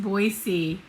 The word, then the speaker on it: Boise: but then uh so then i headed from boise boise it is pronounced boise it sounds pretentious and i hate it and